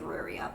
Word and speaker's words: Riyria: I don't like how it's Rhaenyra. It doesn't look like it's supposed to be pronounced Rhaenyra. It looks like Ruria, but whatever.